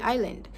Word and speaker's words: island: silent letters and whatnot, you will know that the correct way to enunciate this is by silencing the S in the island, making it to be enunciated as island.